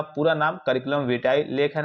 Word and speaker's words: curriculum vitae: कहते हैं सर्कुल भी यहां पे मेन इसका जो प्रोनाउंस है करिकुलम विटाई है ठीक है य सीवी